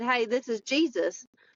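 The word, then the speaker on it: Jesús: said, "Hey, this is Jesus," but he's Hispanic, so it's pronounced Jesus.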